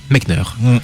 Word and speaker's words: Mechner: alors est-ce qu'il faut dire Jordan Mechner ou Mechner? Et du coup, je lui ai demandé directement, il m'a dit Mechner. Donc voilà, c'est officiel. Donc le papa de Prince of Persia a une prononciation une et unique.